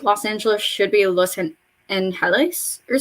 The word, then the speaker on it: Los Angeles: Like Los Angeles should be Los Angeles or something. Los Angeles, something like that. You know, pronunciation rules. E's sound like A's, so Los Angeles.